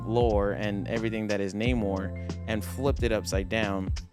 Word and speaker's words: Namor: Atlantis it's um and it's not name War it's Namor now I know people will still say name War but um just you know for pronunciations and and correctness it's Namor for those that don't